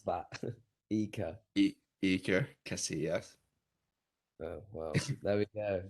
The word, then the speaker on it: Iker Casillas: how you pronounce that. Iker. Iker Casillas.